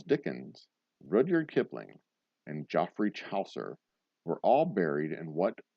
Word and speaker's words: Chaucer: Chaucer. Whatever. He's Rhymes with saucer.